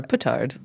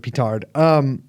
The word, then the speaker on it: petard: guy hang himself hoist himself by his own petard. Or petard. Yeah, that's how you pronounce. But where I'm from, you pronounce it petard.